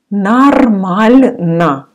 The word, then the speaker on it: нормально: If you remember in video number one, I said that often O you pronounce like A. And here as well, we say нормально.